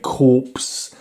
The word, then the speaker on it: Corpse: Except it's not Dead Core, it's Dead Corpse. It's definitely pronounced corpse this time because it's got a bloody E on the end.